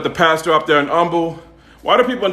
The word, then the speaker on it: Humble: pastor up there in Humble a lot of people in Texas pronounce humble humble they don't pronounce the h in Texas even when they talking